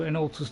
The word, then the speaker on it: Ilinalta: last known location is Ilinalta's Deep. I've been saying it wrong for years. I've been always saying Ilinalta.